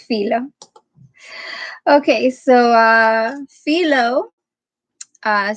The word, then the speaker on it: Philo: well-known jewish writers how do you say his name philo or philo i googled it but it's been a while we're gonna go with filo okay so uh philo